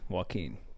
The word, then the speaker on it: Joaquin: Take the all right, bitch, first one is Wakan Phoenix. Who? Is that a dessert? That's an ice cream? Wakan Phoenix? Wakan Phoenix? Close. Joaquin.